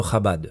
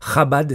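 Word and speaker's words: Chabad: sa vidéo vite fait d'abord sur la prononciation de khaba bon je l'ai vexé ok mais c'est parce que quand on se la joue érudit en Tor comme tu vas le faire d'ailleurs après on se doit un minimum de savoir prononcer surtout quand ce sont des termes toraïques khabad c'est l'acronyme de RMA Bina ved Daat je suis même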